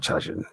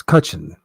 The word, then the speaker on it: Cutchin: And it's not Chuchin, it's Cutchin.